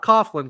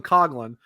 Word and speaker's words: Coghlan: Vegas, to also get Dylan Coghlan, not Coughlin, Coghlan, as I was referred, being told that's how to pronounce his last name.